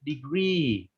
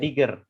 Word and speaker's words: degree: Itu bacanya degree, Albert. Degree, bukan digger. Degree.